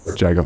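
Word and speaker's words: JAAGO: that anyway all right so it's uh it's jay i go is that how you pronounce the foundation yeah john juggle okay so it's a core V Rex end and Iago or jago jago okay great well today Corby rocks and saw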